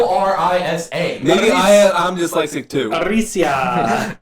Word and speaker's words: Orisa: I said it Orsia for a while. It's not even spelled like that. It's Yeah. Orisa.